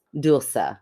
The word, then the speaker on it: Dulce: So, she says that all of her American friends with American accents call her Dulce, DOL-SAY. Dulce. Yes. Phonetically, that's how you spell phonetically. In Spanish, it's Dulce, which is beautiful.